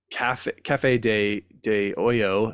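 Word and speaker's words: Café de Olla: that we did um Cafe De Oyo is how it's supposed to be pronounced or Osho uh depending on your dialect where you're from uh was a copy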